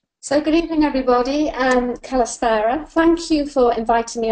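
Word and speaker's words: Καλησπέρα: So is it Kalispera? Yes.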